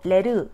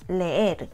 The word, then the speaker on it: leer: 다음 단어 leer, leer도 마찬가지예요. 에가 강모음 연달아 2개 있으니까 잘라서 leer, 2음절. 당연히 소리도 분리해서 내셔야 돼요. 그냥 한 소리로 레르 이게 아니라 레에르, 레에르. 이음절이 분명하게 나뉘게 들리죠? 다음 단어 almuerzo.